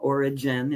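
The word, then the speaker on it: Origen: And Oregon is one of them. Origin, if you want to pronounce it that way, was one of those folks.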